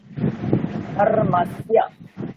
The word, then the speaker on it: धर्मस्य: ধর্মস্য, দেখুন ওখানে সংযুক্ত বর্ণ আছে, দন্তস্য আর য় সংযুক্ত বর্ণ আছে, দন্তস্য য়। জাস্ট দুটো বর্ণকে পাশাপাশি রাখুন, কেমন উচ্চারণ হয় দেখুন। সা ইয়া, সা ইয়া, স্য, স্য, স্য। ধর্মস্য, ধর্মস্য, ধর্মস্য।